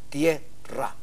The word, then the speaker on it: tierra: en la palabra tierra se le llama diptongo a dos vocales que se pronuncian en una como una misma sílaba la vocal fuerte se impone en este caso la vocal que se impone es la e tierra Tierra es una sola sílaba pero la vocal fuerte